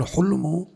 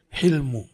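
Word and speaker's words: حلم: pintar baru namanya Halim hilm Bukan hulmu tapi hilmu takquulu anda berucap halumarjulu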